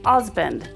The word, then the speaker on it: Huzband: Husband, pronounced Osband, noun, one, a male partner in a marriage.